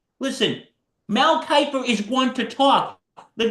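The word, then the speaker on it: Mel Kiper: Mel Kipper from Mel for ESPN. Mel Kyper. Yeah, Mel Kyper.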